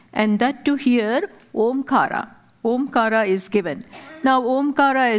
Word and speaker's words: Omkara: Omkara is made of these three syllables, A, U and Ma.